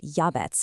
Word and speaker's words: Jabez: The name Jabez, pronounced Yabets in Hebrew, literally translates to pain or sorrow.